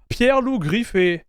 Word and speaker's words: Pierre-Loup Griffais: OS and Pierre L griffy I hope I'm pronouncing his name well I believe it's French but this is how we pronounce it in French Pier L gri is in this interview